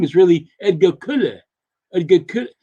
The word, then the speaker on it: Colle: The pronunciation of Edgar Colley's name is really Edgar Kulle. Edgar Kulle. It sounds more like Kulle than Colley.